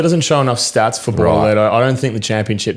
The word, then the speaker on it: Bortoletto: Bortoletto.